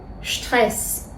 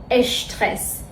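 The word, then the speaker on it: Stress: مثل مثل مثل شتول شترس یا شپورت شپورت شپورت شپاگتی شپس دقت کنید که اینها رو اش تلفظ نمیکنیم نمیگیم اشپاگتی اشترس اشپورت میگیمپورت شپاگتی یادتون باشه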